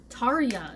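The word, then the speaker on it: Tarja: gut goes virgia but i know that a lot of j's in nordic languages are pronounced with a y sound uh like fjord and yokelhops yeah and also the original singer of nightwish is uh tarya and it has a j in it yeah so is this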